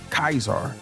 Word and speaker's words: Caesar: They speak of Latin imbued dialect, pronounced Latin words with the Roman way. Caesar, known as Kaisar.